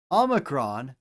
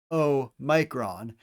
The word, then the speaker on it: omicron: Omicron literally means small o, omicron, so we pronounce it with a short o sound, as in ah.